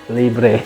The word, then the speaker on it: Libre: kita mau bahas sekarang adalah library agak lucu ya tapi ya emang itu cara bacanya wanginya kayak gimana nih